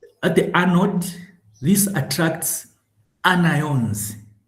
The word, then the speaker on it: anions: Also, at the anode, this attracts anions, not anions. Like you want to pronounce onion, but then you think you're in